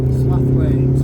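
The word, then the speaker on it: Slaithwaite: now we're going up slalwick and if you're trying to spell that the posh pronunciation is slothwaite but i would say around here it's slow it should be out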